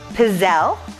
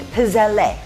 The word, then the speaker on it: pizzelle: So today we're going to do pizzelle, which is how I learned to pronounce it, but it's got an e on the end of it when you spell it and from what I've learned you always pronounce e at the end of an Italian name as eh. So maybe we're making pizzelle.